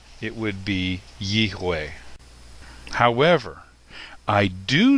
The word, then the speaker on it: Yahweh: It's possible that the V sound may have come from a Germanic European influence. So rather than Yiveh, it would be Yihweh.